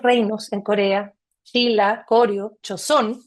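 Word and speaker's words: Joseon: Tenemos reinos, muchos reinos en Corea, Chila, Corio, Chosón, que Chosón yo creo que ustedes les puede sonar por los doramas quizás de Netflix, se escribe Joseón, que es un reino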